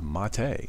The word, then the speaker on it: MATE: It is pronounced Mate, so check it out.